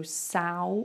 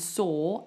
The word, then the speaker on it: saw: or so I hear a lot of so but it's not it should rhyme with door door and saw and War should all rhyme they should all rhyme so make sure it's like a forward or sound we saw a dozen